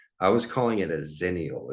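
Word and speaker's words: Xennials: term for that I was calling it a zenal it's spelled XE n n i a LS so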